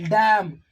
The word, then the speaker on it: damn: in the combination of this n will be silent but n is n